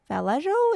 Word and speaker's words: Vallejo: Valio. Is that how it's pronounced? Yeah. Yeah. Yeah.